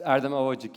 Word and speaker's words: Erdem Ovacik: should say your uh the pronunciation of your name is eram oik it's Aram oik yes there's a temptation to make a Eastern name of it but it's a Turkish name soam yes that's great